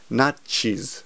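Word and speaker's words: ナチス: By the way, in Japanese, if you say Nazi, no one will understand. You have to pronounce it correctly. It's nachis.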